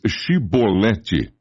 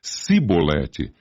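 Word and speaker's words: Chibolete: E dizendo ele: não, então lhe diziam: Dize, pois, Shibolete. Porém, ele dizia Sibolete, porque o não podia pronunciar assim bem.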